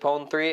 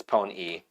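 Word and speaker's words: Pon-3: I thought the 3 was supposed to be like, because it's like techno, so it's E actually. Well, I don't know how you pronounce that, just that it is a 3, but... Yeah, it's a 3, but it's Pone E.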